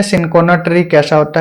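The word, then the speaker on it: Cinchona: Next है इन which one ऑफ the following state, इसको सिनकोना बोलते हैं, ठीक है, इसका प्रोनाउंसिएशन गलत मत करना, कोई चिंचोना बोल देता है, कोई कुछ, सिनकोना ट्री बोलते हैं इसको, सिनकोना ट्री।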